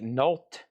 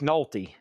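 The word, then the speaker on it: Nolte: Nick Nol. How do you say is the E? Do you say the E?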